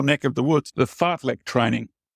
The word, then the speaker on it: fartlek: The fartlek training. It's exactly as it's spelled, F-I-R-T-L-E-K, which is speed play, which incorporates for running or anything you're doing, a fun element.